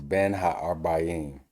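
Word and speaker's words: בין הערביים: Again, it's Ben ha-arbayim. It's how you would say it.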